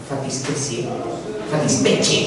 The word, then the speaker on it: fattispecie: le llamas a esto fattispecie, en verdad, porque así se pronuncia en italiano, si le llamas fattispecie, uy, qué capo el grito.